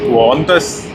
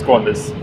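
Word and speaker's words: Qantas: Hey Tom, it is pronounced as quarters and I don't think anyone has pronounced it as quantus. No one really pronounces it that way. So pretty much uh we all know it's quarters.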